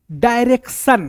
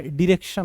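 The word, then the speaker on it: direction: डायरेक्शन, अरे भाई डायरेक्शन क्या होता है, डिरेक्शन होता है, डिरेक्शन।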